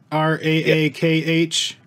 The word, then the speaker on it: Raakh: saw the short film that you worked on rock does that how it's pronounced ra-a-a-h right that came out last year correct right